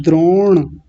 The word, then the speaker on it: द्रोण: एक शब्द है द्रोण, तो द्रो बोलने के बाद में जब ण का उच्चारण करेंगे, णकार का उच्चारण करेंगे, तो जीवा कहाँ जाके लगेगी? ऊपर, मूर्धा में, द्रोण, द्रोण।